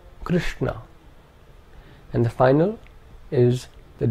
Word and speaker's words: Krishna: The second is a cerebral sh. This is the sh of Krishna, Krishna.